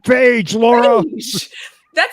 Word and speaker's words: Feige: Wait, how do you say it? Wait, you say Phage. I see Feige. How do you say it? Feige. Feige. Spell beige. The color beige. I'm not good at speller. BEIGE is beige. Feige.